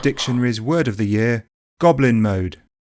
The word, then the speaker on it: goblin mode: It's also a compound, and like most, the stress is on the first word, goblin.